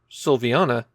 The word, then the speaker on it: Silviana: we be pretty confident how it should be pronounced sylvana but is that first vowel an i or